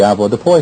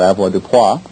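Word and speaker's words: avoirdupois: everyone's familiar with the Ava Deo system AV Deo or Ava DEA however you choose to pronounce it comes from the French and it means to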